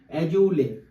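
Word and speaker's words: Azoulay: বরাবরই এটা চেঞ্জ হয় কে আছে এই মুহূর্তে এজুলে দেখো আমার স্পেলিংটা এতটাই ডিফিকাল্ট মানে উচ্চারণ করাটাও ডিফিকাল্ট হয়ে যাচ্ছে তো তোমরা যেখানে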